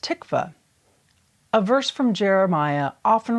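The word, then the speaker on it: תקווה: The word that is commonly used is these Greek letters, which is pronounced tikva.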